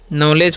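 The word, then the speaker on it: knowledge: अब लास्ट में क्या लिखा हुआ है नॉलेज, इसे हम क्या पढ़ते हैं नॉलेज पढ़ते हैं, ठीक है। यहाँ पर डी भी साइलेंट होता है।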